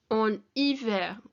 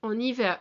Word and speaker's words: hiver: And then the last one we've got here for winter, en hiver. En hiver. And the H in French is silent, so it's I, like that I sound for I.